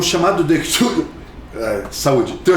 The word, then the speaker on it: Cthulhu: E ele fala que a ideia era ser impronunciável mesmo, porque é uma língua que não é para a garganta humana reproduzir, mas que ele é um som praticamente cuspido, praticamente vomitado, é um Cthulhu, algo assim.